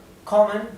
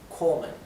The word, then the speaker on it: kommen: Kommen tiene doble M, por eso la O previa a la doble M se pronuncia corta, kommen. Si tuviera una sola M sería una O larga, kommen, kommen.